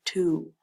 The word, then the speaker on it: two: a bit tricky because it's not a long o sound it's a long u sound U ooh two do you hear the